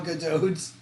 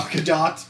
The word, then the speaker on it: Gadot: You're supposed to pronounce it, but I don't know how harshly. Gal Gadot. Gal Gadot.